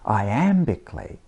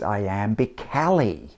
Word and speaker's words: iambically: of english iambic pentameter the word iambic scans iambically but what about that word iambically no one reads i am be cali and so with any